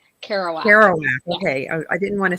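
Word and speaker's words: Kerouac: one Jack's house I don't know how to pronounce that author's last name carow kowak kowak okay I didn't want to take a stab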